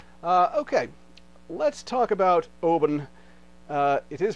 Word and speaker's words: Oban: okay let's talk about oben uh it is pronounced open by the way uh like open but uh with a b instead of a p and this is a